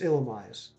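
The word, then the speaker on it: Illumise: um i i will i will die on this illumi hill it's illimis uh sceptile is there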